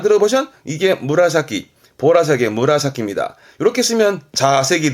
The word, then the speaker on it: 紫: 이게 무라사키, 보라색의 무라사키입니다. 이렇게 쓰면 자색이 되죠. 그렇죠. 뭐 자색 고구마 하는 그 자색입니다. 근데 발음은 무라사키이로, 무라사키이로, 보라색이 됩니다.